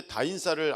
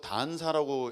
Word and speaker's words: 다인사: 다인사 다음 세대 인천사역자협회 근데 다인사를 아직도 단사라고 읽으시는 분이 계세요 단사가 뭐야 단사 안사라는게 아니고요 나 다 안 살 거야 그게 아니고 다음 세대 인천 사역자 협의회 다 인싸 다 들어와라 인싸가 되라 그런 얘기입니다 근데 어저께